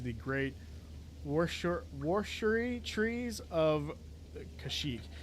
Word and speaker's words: Kashyyyk: They say Kashyyyk in this game because this game actually predates Kashyyyk being in any of the movies. So they didn't know how to say it. So it's Kashyyyk in the game, but it's Kashyyyk in reality.